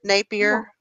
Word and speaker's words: Napier: there's this piece here this is napier is that the correct way to say it that's right napier yeah it sounds I